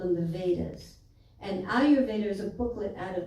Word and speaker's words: Ayurveda: And some people say, oh, that long word, and I don't know how to pronounce it, So, Ayurveda. Think about Ayur life, okay?